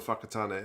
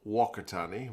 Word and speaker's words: Whakatane: My mum was born in Whakatane, actually. Nice town. Nice town, old Whakatane. Or if you're my dad and my mum, you'd call it Wakatane, which is probably pretty terrible pronunciation.